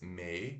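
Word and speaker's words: May: puxado xale próximo temos mei que é Maio em inglês Então se escreve M A Y como se fosse mais se pronuncia m e curto então um e meio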